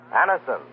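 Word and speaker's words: Anacin: It's spelled A-N-A-C-I-N. Anison.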